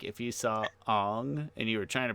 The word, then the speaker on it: Aang: be fair, Aang sounds very Midwestern. Like Aang sounds like if you saw Ong and you were trying to pronounce, you'd be like Aang.